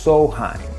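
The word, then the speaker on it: Samhain: festival called soulheim it's spelled s-a-m-h but it's pronounced so high and soheim was the day before november 1st where they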